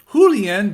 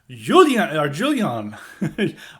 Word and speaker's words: Julien: I said it was Julien, but it's a French pronunciation, which is Julian. I'm probably once again mispronouncing it, but it's with a you pronounce with the J, Julian, as the name.